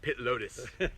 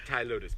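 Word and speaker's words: Ptilotus: I was gonna say I call it pit lotus, not Thai lotus, pit lotus.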